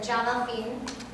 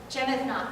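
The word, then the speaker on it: Jemaa el-Fnaa: Now this is in Marrakesh, in the main square in the Jamal Fin. Did I say it right, Zubir? Yeah. No. Okay, good. Jemethna.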